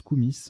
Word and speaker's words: koumis: Alors, pardon, ça se prononce Koumis, K-O-U-M-I-S, Koumis, avec un I ou un Y, lait fermenté de jument en Asie centrale.